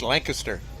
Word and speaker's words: Lancaster: Jacob is waving around I'm got to make a slight correction to your pronunciation after me traveling through the Pennsylvania area it's Lancaster that's how they PR Lancaster okay Lancaster all right like Newland yes Chopper on the infield